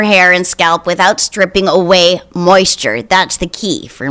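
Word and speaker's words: Ouai: clarifying detox shampoo from away pronounced whey spelled o-u-a-i uh i have so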